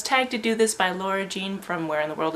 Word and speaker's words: Leah Jane: Kathy from editing here, I know that's not her name. Her name is Leah Jane, but to all the boys I loved before has forever destroyed my ability to say her name properly on camera. Leah Jane, that is your name.